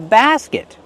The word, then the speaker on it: basket: Basket. Use the open A sound like black cat. Basket. And then the closed sound. Basket. And use a stop T. Not basket. Just stop the air with your tongue.